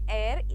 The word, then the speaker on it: heir: इसको प्रोनाउंस करते हैं एयर, HEIR.